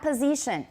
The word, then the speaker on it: position: front back position not position position s is pronounced as z and then the vowel is in e position position everyone beautiful the